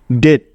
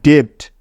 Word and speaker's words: debt: ডেট, ডেট। ডেট মানে হলো ঋণ বা দেনা। এই শব্দটাকে কিন্তু কখনোই ডেপ্ট পড়া যাবে না, পড়লে 100% ভুল হবে।